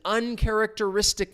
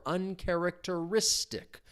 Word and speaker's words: uncharacteristic: So, it was an uncharacteristic mistake for such a talented athlete. So, keep in mind the stress, remember there's that tic, the stress comes on the syllable before uncharacteristic.